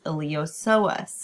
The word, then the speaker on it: iliopsoas: they are known as iliopsoas again the p is silent and it's going to